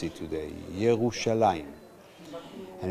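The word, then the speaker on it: ירושלים: write it today in the same way we pronounce it today yerushalaim and it's the first time we have an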